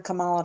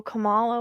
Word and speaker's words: Kamala: I kind of thought he might fake it first in order for Kamala to come in.